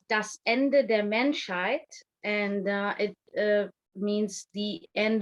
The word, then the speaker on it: Das Ende der Menschheit: So yeah, so it's pronounced Das Ende der Menschheit, and it means the end of humanity.